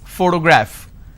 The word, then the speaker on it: photograph: first word which is photograph and how many syllables do I have here photo graph now pay attention when I pronounce this particular word photograph the correct pronunciation is photograph which means